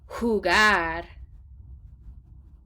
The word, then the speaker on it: jugar: J's in Spanish are pronounced like H's in this case. So repitan jugar. Say that again with really put an H at that first part.